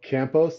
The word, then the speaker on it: Campos: the show today I have with me Campos did I pronounce that right yeah perfectly okay perfect um